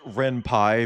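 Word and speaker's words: Ren'Py: See, that's another thing I don't want to It's pronounced Ren Pie because it's named after the Python scripting language.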